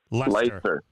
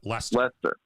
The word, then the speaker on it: Leicester: I can never pronounce that right. Leicester. Yep, Leicester.